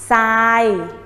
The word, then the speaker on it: ทราย: นั่น เอง นะ คะ รูป เป็น ทอ แต่ ออก เสียง เป็น ซอ นะ คะ คำ นี้ จึง งาน ว่า ทราย ทราย ทราย ทราย สระ